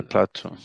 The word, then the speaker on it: plateau: I'm in the group with the pronunciation, but but it's um it is spelled like in French, which is plateau.